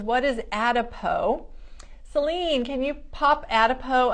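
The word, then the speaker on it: Adipeau: Mary says, what is Adipo? Celine, can you pop Adipo up for them to be able to see it? It's spelled A-D-I-P-E-A-U, so it's kind of that French spelling. Adipo is a product that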